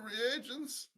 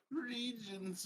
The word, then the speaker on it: reagent: an agent of evil some people say regions but they would be misspoke how do you say it reagent reagent oh so that's like